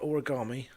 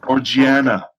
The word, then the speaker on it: Orgiana: Origami? Or Organa? Orgiana.